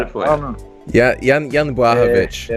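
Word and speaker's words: Błachowicz: You know, I'm gonna focus on Jan Huakwit. How do you say it? How do you even say his last name? Casper's Polish, so he's got it for you. Yeah, Jan Blachowicz.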